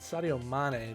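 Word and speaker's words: Sadio Mané: Sadio Mane, there we go.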